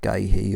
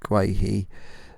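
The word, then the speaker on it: Guéhi: My guy, I don't know how to pronounce it, Mark Guay or some, it's not Gahey, obviously Mark Guay, who I signed for Newcastle from Palace.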